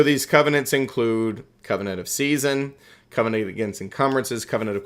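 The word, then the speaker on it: seisin: But if I say covenant of season, it's s e i s i n. Not like season of stake. That's spelled differently.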